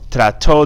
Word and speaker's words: trató: Listen to the pronunciation. Trató, tomó, agitó. The accent's on the last word, that's why there's a stress there on the last letter, excuse me.